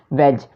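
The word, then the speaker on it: wedge: अब अगला है हमारे पास वेज। तो वेज कैसे लिखेंगे देखिएगा। अब इसमें ना डी हमारे पास क्या है, साइलेंट है, डी हम नहीं पढ़े, ठीक है, तो हमने बनाना भी नहीं है।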